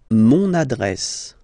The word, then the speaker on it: mon adresse: Mon adresse, my address, mon adresse, okay? You can hear now this little link, so you get to pronounce this N.